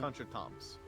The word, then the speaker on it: contretemps: She had occasional contretemps with her staff. Could I get a translation on that, or pronunciation on that? Contretemps? Contretemp. Contretemps. Mm. It's like coup d'etat, or like it's contretemps. Mm. Contretemps. Yep.